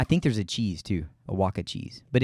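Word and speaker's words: Oaxaca: heard that from it's in a movie well iwaka is a town in Mexico um I think there's a cheese too a Waka cheese but it's oh I've heard this saying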